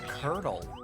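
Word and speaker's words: Qurdle: There's a Wordle variant called Curdle. I don't like the sound of that. Please continue. It's spelled Q-U. Oh, okay. Not like curdled milk.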